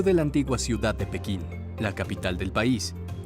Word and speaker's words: Pekín: Podemos decir cualquiera de las dos. En español, según la Real Academia, lo más correcto es decir Pekín, aunque decir Beijing también es aceptado.